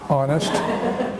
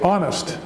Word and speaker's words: honest: which is a consonant the H is silent the H of silent